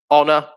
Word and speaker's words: honor: is a key one honor is another one as well where there's a silent h at the beginning um white yep silent